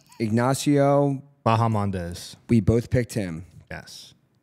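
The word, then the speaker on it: Ignacio Bahamondes: Ignacio Bahamandez.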